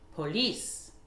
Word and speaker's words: police: Par exemple, le mot police, c'est le même en anglais, et c'est une origine française, donc l'accentuation se fera sur la deuxième syllabe, c'est-à-dire, on va dire police, police, police.